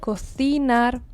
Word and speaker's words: cocinar: In Argentina, however, we don't say it like that. Cocinar, in Argentina we say cocinar, like it's an S.